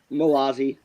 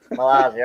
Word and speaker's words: Mazzolli: Oh, sorry, how do you pronounce your last name? Malazzi. Mazzolli. Okay, I would have been close, but I've been called Mazzoli, Malazzi, Malozzi, all the things.